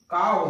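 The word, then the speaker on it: cow: Next है यदि Wavell ओ के साथ में डब्लू आता है तो वहां पर उच्चारण आ हो जाएगा। जैसे सी ओ डब्लू काव होता है, क्या होता है काव, काउ नहीं होता, उसको पढ़ते गलत है, सी ओ डब्लू काव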